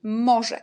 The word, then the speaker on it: może: On a Z avec petit point, on dit może.